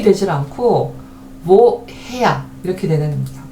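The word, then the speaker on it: woher: 왜냐면은 우와 했으면 좋겠는데 그렇게 발음되지 않고 모음 다음에 하가 나왔음에도 불구하고 요 하가 묵음이 되질 않고 뭐 해야 이렇게 되는 겁니다.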